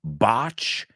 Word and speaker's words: botch: rhymes with Notch El it also rhymes with botch they botched the surgery